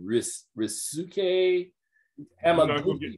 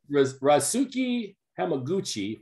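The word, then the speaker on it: Ryusuke Hamaguchi: I'm seeing if I'm pronouncing this correctly. Is it Risuke Hamaguchi? You're not gonna get me to do it. Okay. Risuke Hamaguchi for Drive My Car, and Paul Thomas Anderson for Licorice Pizza.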